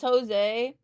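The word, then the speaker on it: José: That's fair because some people don't understand that the J is pronounced as an H.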